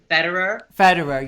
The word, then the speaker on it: Federer: Jamie, how do you pronounce? How is it? Federer, yes, that one.